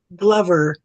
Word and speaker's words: Glover: Meth Glover. Glover. Yeah, that's how his last name is pronounced.